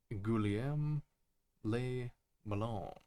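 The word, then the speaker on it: Guillaume Le Million: Guillaume Le Melon. If it doesn't rhyme, you're not pronouncing it right.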